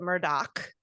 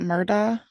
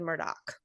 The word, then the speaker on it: Murdaugh: get started um hey the name is spelled m-u-r-d-a-u-g-h but they wouldn't that be yeah but they pronounce it Murdock oh not murder that's what I thought too but everybody said Murdoch um and then the